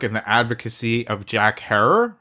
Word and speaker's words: Herer: the advocacy of Jack Herer, rhymes with terror.